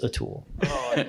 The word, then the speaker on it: Atul: Unless their name is Atul. Starts with A, rhymes with tool.